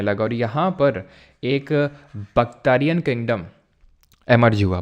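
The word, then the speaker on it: Bactrian: और यहाँ पर एक बख्तारियन किंगडम एमर्ज हुआ। बख्तारियन किसको बोलते हैं? तो एक्चुअल में ये वाले रीजन को बख्तारियन बोलते हैं। बख्तारियन, बैक्टीरिया नहीं पढ़ना उसको, ठीक है, बैक्टीरियन होगा ये, ठीक है।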